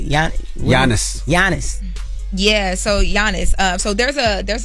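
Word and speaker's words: Giannis: to her I don't even know how you pronounce the guy name what is it Yan Yannis jannis yeah so Yannis um so there's a there's like a I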